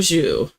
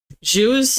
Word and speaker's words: jus: So Ian says, okay, buff au jus. Jus is impossible. There's nothing in English that sounds like that. It's just like Jew, but only pronounce the J.